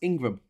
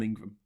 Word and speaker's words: Ingram: happy happy International women's day um that's actually pronounced Ingram um which is in England I know an Ingram surname and it is i n g r